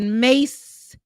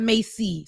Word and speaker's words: Mace: man in the chat he said mace not Macy so thank you for saying it correctly Ben I was saying it wrong it ain't Macy sorry mace mace I was trying I